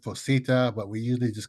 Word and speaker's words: PHOSITA: I pronounce it Fosita, but we usually just call it by its commonly long name, person holding ordinary skill in the art.